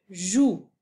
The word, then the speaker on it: joue: d numéro 5 je joue noublie pas la lettre muette à la fin de jou numéro 6 fille numéro